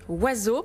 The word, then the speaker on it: Oisx: Alors, je précise que ça s'écrit avec les lettres O-I-S-X, mais que ça se prononce donc Oiseau.